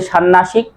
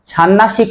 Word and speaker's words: ষান্মাসিক: এটা কি উচ্চারণ কি হবে যে ষান্মাসিক? এই যে মূর্ধন্য সাথে ম ফলা আছে, মর উচ্চারণ বজায় থাকবে, তাহলে উচ্চারণ হবে ষান্মাসিক, ষান্মাসিক নয়।